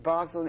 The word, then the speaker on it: Basel: the Basel-- is it Basel, in English? INT: 'Basel.' HB: It's 'Basle,' in French. INT: Basel. HB: When I said 'Basle,' it's-- the S, we don't pronounce, so I can say 'Basel.'